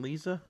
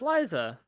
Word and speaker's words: Liza: Tate and Lisa? It's Liza.